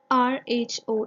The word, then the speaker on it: rho: This symbol here is known as rho, R-H-O. It is pronounced as rho.